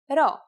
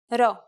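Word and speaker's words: rho: but not close enough you'll just have to remember to pronounce this letter as an r here's the upper case at all it is handwritten like this row and this is what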